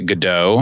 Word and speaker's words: Goudeau: Well, again, Goudeau.